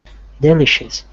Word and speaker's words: delicious: Delicious. Right, and remember that because these vowels are very underpronounced, it's delicious.